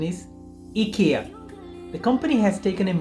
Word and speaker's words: IKEA: correct but being a Swedish company the authentic pronunciation is akia the company has taken in more customer-friendly approach depending on the region in the UK and European ads they say IKEA there as their American ad say IKEA the